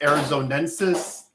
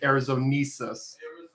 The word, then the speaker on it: arizonensis: Like, I think it took me several years to figure out it was Dinocyrus arizonensis, and for the longest time I was pronouncing it Arizonesis.